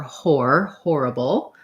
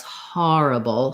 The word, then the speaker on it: horrible: In this one, the O goes together with that R. It's the diphthong or, horrible. You might hear that a little bit as horrible, some places with a little bit of an aw.